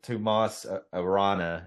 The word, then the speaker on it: Tomas Arana: character's name is Allen that act to Tom Tomas Arana is how you pronounce his name but he he's an American